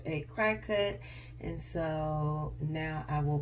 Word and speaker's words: Cricut: pronouncing it incorrectly I was calling in any cricket but it is pronounced a crack cut and so now I will be pronouncing it